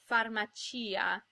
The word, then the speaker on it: farmacia: An example of a stressed I between a C and another vowel is farmacia, where the I is pronounced because it has its own syllable.